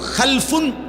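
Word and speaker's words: خَلْفٌ: হয় আরবিতে একটা হল খালফুন আরেকটা হল খালাফুন একই শব্দ শুধু উচ্চারণের মধ্যে একটু ভিন্নতা মাঝখানে একটা লাম আছে এই লামটার মধ্যে যদি সাকিন হয় তাইলে হল খালফুন আর যদি লামের মধ্যে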